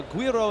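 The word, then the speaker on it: güiro: of photoshop the um yeah the uh now guiro is how you say it yes and and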